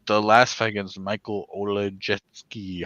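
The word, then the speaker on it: Oleksiejczuk: an arm like the last fight against Michael Olejetsky. How do you pronounce it? Olejechuk.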